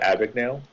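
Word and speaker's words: Abagnale: I've heard a lot of different pronunciations for it. Abignale, Abignale? Abignale. Yeah, I call it Abignale I like because I that. liked it. Yeah, that seems like to make the most sense to me.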